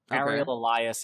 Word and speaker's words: Ariel Elias: don't know the personal preference of my name ariel elias and i don't know if i'm wrong that's